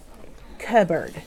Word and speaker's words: cupboard: board point to it if you see the word cupboard it looks like cut board oh yeah they found it okay doesn't it look like the word cup the word but when you pronounce that word cupboard have you ever heard the